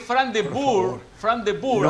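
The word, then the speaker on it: Frank de Boer: Hoy Holanda, por más que Fran de Boer, así como se pronuncia, debutaba al frente de la selección de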